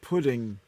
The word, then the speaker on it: pudding: It's pronounced pudding. Pudding. Pudding. Pud is a penis. Pudding. So if you say you're pudding, it sounds like you're playing with yourself.